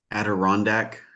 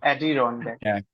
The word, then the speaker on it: Adirondack: Something like Arondira. Maybe saying it wrong. Coming back to you, Arondir. passing to Shane. Adirondack. That is Yeah. correct. Adirondack.